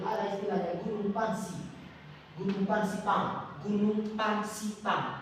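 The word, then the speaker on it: Fansipan: Gunung Pansipang. Gunung Pansipang. Cara bacanya Pangsipan.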